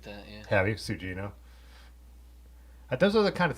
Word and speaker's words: Sugino: Two of you said it's pronounced Sugino, right? That's what they're. I've always said it like that. Yeah. Have you, Sugino?